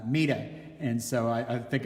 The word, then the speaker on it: Meta: of her name um until recently I think I was among those calling her meta uh War Fuller um but I just watched a wonderful PBS uh documentary online which I will include uh the link to uh in the Facebook comments and she's referred to there as uh MAA and so I I